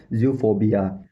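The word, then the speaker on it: zoophobia: और professional English language में बोलते हैं जूफोबिया। जूफोबिया जूफोबिया जूफोबिया जूफोबिया।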